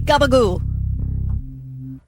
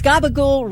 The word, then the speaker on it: gabagool: Okay, is gabagool real? Is gabagool real, and is it Italian? Gnocchi. Hold on. Thinking. Yes, gabagool is real, but it is the Italian-American slang pronunciation for capicolo.